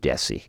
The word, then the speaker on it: DESE: Is that pronounced DESE? DESE. DESE. Yeah, it's Department of Elementary and Secondary Education, but most of us in the vernacular pronounce it DESE.